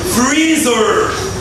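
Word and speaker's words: freezer: فريزر. فريزر. فريزر. اي ار اعملها بوز بطه تاني اهو.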